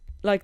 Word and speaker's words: li: river from hogson to draman lee pronounced like the english li the same word as for leia norwegian for the cultivated sloping ground between a river and